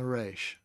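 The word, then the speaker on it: ריש: be longer than the reish. So, reish. It's hard to get used to saying it that way, but that's the way it's supposed to be said.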